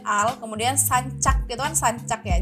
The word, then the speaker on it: sancak: kemudian sancak itu kan sancak ya jadi bahasa Turki itu C Itu bahacanya J jadin itu bahacanya sanjak